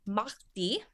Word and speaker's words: mardi: in spanish it's martez and in french it's mahdi m-a-r-d-i uh and this is also what americans pronounce as mardi gras which means fat tuesday